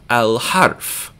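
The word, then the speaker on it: الحرف: Harf is letter, like letter of the alphabet, and ha is pronounced all the way down in the bottom of your throat, so we hear the lam, al-harf.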